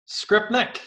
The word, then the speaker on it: Skrypnek: I'm gonna try Skrypnek. Skrypnek, yeah, absolutely.